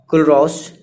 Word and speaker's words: Kohlrausch: तो अब इस प्रॉब्लम को दूर किया गया बाय कुलरॉस लॉ से, ठीक है, KOHLRAUSCH, ठीक है, इस स्पेलिंग है।